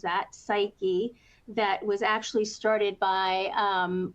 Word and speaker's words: Psyche: And just 2 or 3 days ago, this happened that a Web3 startup called Psyche, that's how they pronounce that, Psyche, that was actually started by Ralph Lauren and a former Burberry executive.